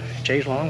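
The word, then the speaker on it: chaise longue: I got the, I don't know how you say it, chaise lounge. Chaise long, like the song.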